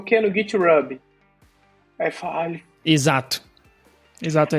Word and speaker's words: GitHub: Aí ele falou, tá, é GitHub. Falei, putz, cara, sério? Toda vez que eu vejo um H, eu pronunciava desse jeito.